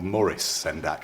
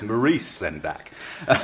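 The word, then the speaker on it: Maurice Sendak: And also while we're here this there are illustrations in the animal family by Sak who in the UK we call Morris Sak that is of course incorrect Maurice Sak.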